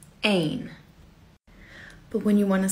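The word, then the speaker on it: één: how you say the number one it is pronounced ain but when you want to say a house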